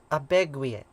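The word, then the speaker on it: Abegweit: It's pronounced abegwit. Abegwit. Looks like epic with it.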